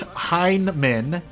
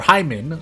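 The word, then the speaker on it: Heimmann: I mean, with a name like Horst Heinemann, or Hyman, sorry. Robots, it is spelled H-E-I-M-M-A-N-N.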